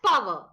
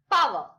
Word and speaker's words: power: what is this power we usually read it as power r is silent there power so this full expression